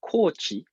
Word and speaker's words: Kochi: my research which is called Kochi was a long o uh and I give you a moment to look at this map look carefully at this map and try to find where a coachee is where is it